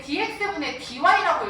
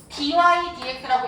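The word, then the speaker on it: dy/dx: 해서 읽을 때는 얘만 dy 위에서부터 dx라고 읽습니다. 보통 dy dx라고 읽어요. dx dy라고 하면 안 돼요.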